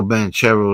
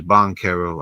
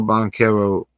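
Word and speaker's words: Banchero: Harris, which Paulo Bancherro is having a I think his name is Bonerro. I've been saying it wrong for a while, but Paulo Bonero, he's having a rough year.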